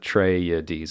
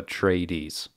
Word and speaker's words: Atreides: that's another thing um frank herbert says atreides uh trey yeah deez it's like four syllables as opposed to uh tradies you know um so